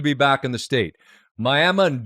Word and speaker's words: Miami: And my grandma's from one of them, which is Miami, spelled like Miami. And anytime I say my grandma's from Miami, they go, "Oh, you're telling the truth. You're saying it right."